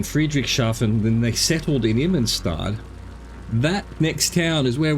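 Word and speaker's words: Immenstaad: Immenstad, I'm putting an extra syllable in there, I don't think I need to.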